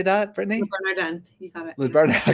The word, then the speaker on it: Le Bernardin: Le Bernardin.